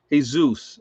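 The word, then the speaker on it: Jesús: there's clyde from inverness florida in the house hey zeus yeah exact yes jesus is spelled jesus exact thank you i've said the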